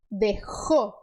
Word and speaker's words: dejó: Então, é parecido a este som. Dejó, dejó. Sempre o ar saindo para fora, tá? Não tem que aspirar, é para fora.